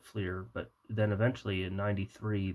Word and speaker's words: Fleer: For those of you who call Fleer, who pronounce it Flare, uh, part of the reason people my age don't is because Fleer. Well, I always called it Fleer, but then eventually in